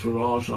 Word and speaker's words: Farage: on it um and for those who say that his name is pronounced farage i say he's he's fabulously runs with garage uh it's a northern